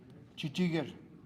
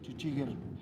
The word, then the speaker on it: Chichigir: Chichigir. It's how to say it in Ute. Chichigir.